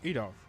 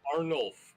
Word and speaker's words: Arnulf: As it reappears right next to Adolf. Or Adorf. Oh, how do you spell that again? Are you Or your character. Yeah, what's his name? Oh, Arnulf. A-R-N-U-F. Arnulf. Arnulf. Adolf.